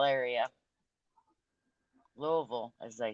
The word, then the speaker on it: Louisville: I'm Kentucky what part of Kentucky I'm from Louisville area Louisville as they say doing good April how about